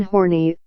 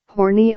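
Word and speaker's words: Horney: Karen Horny, the last syllable of her last name rhymes with I.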